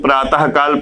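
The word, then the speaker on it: प्रातःकाल: कल लिखा हुआ है लेकिन जैसे ही यहां पर हम विसर्ग लगाएंगे तो इसका उच्चारण हा की तरह होगा अब इसको क्या पढ़ा जाएगा पुराता काल जैसे लिखा हुआ है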